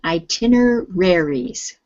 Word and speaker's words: itineraries: itineraries itineraries try again itineraries itineraries good so now say it faster the stresses on the tin itineraries i thin errors